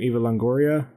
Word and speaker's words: Eva Longoria: And and Eva how do you say her name? Eva Longoria.